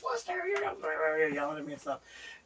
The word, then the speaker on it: Wooster: First of all, they don't like it being pronounced Wooster, I found out. No. And when I found that out, I'm like, okay, this is perfect. How do they pronounce it anyway? Worcester.